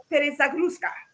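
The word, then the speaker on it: перезагрузка: And don't, my friends Russians, please don't kill me if I mispronounce it. It's called perezagruska.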